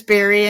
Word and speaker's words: Bari: So people always mispronounce it, but it is Barry, and you got it right the first time.